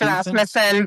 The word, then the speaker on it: Rasmussen: It's Rasmussen, but that's okay, Dean. Rasmussen. Everybody pronounces it wrong constantly, so it's all good. I suck. It's all right. The only people who pronounce it right are people who are also Scandinavian or from Minnesota.